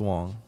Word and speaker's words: Wang: Spelled W-A-N-G, pronounced Wong.